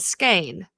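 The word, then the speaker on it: skein: learned to knit and my teacher pronounced it skain but I've heard it SK as well so um but this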